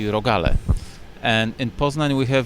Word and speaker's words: rogale: Singular form is rogal. Plural would be rogale.